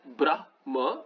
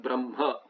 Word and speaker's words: Brahma: Reason may or may not be there, but then you pronounce Brahma not as Brah Brahma, but Brahma.